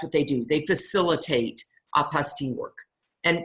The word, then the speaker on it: apostille: They facilitate apostille work. And by the way, apostille looks like apostille, but it's a French word, so we just don't pronounce that ending.